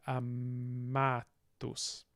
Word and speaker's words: amatus: So insula, but periculum and amatus. Amatus. So long second syllable, a long penultimate syllable, stress gets on the penultimate.